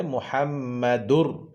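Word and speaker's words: محمد رسول: দুই পেশ দুর দুন এটাকে তানভীনের আওয়াজকে পরের হরফ র সহিত মিলাইয়া পড়তে হবে মিলাইয়া পড়তে হবে তখন আর তানভীনের উচ্চারণ থাকবে না তানভীনের উচ্চারণটা রথে মিলিয়ে যাবে তাই বলতে হবে মুহাম্মাদুর রা জবর রা সিন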